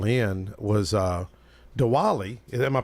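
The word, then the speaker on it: Diwali: I wanted Scott to call in was uh dwali am I pronouncing it right it's very very good the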